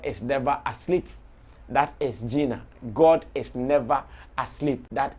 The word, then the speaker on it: Gina: posted a flyer called g-i-n-a you can pronounce it as gina and um when we